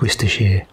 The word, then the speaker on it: Worcestershire: of horseradish some sour cream fun fact it's pronounced Worcestershire a little squeezing lemon juice mix him up